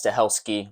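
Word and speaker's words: Stahelski: in this franchise back again directing it Chad's to helski that's how you pronounce it a phenomenal job of this movie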